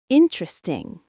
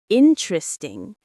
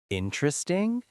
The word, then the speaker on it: interesting: Interesting. Interesting. That's what learners say, but native speakers say interesting. Three syllables, not four. Interesting.